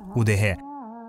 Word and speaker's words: удэге: Есть версия, что удыгейцы, или если правильно произносить удыге, переводится как «люди леса».